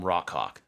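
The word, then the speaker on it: Rawk Hawk: So we got a mail from Rockhawk.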